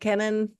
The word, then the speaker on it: Kenan: Kenan?